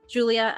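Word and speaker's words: Giulia: you know that her name is Marcela Julia I spelled it out m-a-r-c-e-l-l-a for Marcelo Julia as its uh pronounced g-u-l-i-a and Sai as s-a-l-e went quite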